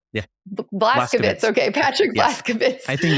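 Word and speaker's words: Vlaskovits: Ellis and with Patrick, am I going to pronounce his last name right? Blaskowitz. Yeah. Blaskowitz.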